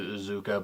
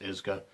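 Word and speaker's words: Iizuka: They pronounce it Izuka, but it's actually pronounced Izuka, according to the commentary.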